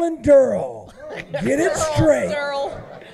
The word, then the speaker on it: Daryl: I think we have a bit of a Merle, pronunciation. baby, it's Merle. It's Merle and Durrell. Get it straight. Daryl.